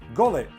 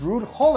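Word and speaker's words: Gullit: We're not Dutch and we pronounce the G as Gullet. When he comes to England everybody's like oh look it's Rude Hol.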